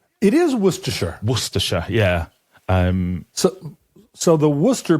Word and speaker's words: Worcestershire: It's Worcestershire. It is Worcestershire.